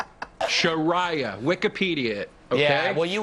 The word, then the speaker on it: Sharia: general note for everybody guys it's pronoun it's pronounced sharah not Sharia sharah Wikipedia okay yeah well you would know yeah